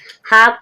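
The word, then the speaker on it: half: हाफ। हाफ means आधा। एल के बाद यहां तो हाफ। एल के बाद अब एफ आया है। जब भी एल साइलेंट है।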